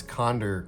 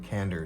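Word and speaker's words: Conder: I think it's cond rather than cander.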